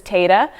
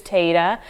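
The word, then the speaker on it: Téada: This is Tada. It's kind of hard to know how to pronounce those Irish words sometimes, but it is Tada.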